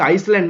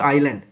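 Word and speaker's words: island: ইজ আইল্যান্ড দেখো আইল্যান্ড এই উচ্চারণটা হচ্ছে আইসল্যান্ড নয় এটা হচ্ছে আইল্যান্ড প্রথমে আই আছে আই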